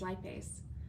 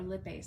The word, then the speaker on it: lipase: the other one is lipase or lip base depending on how you pronounce it but it's not active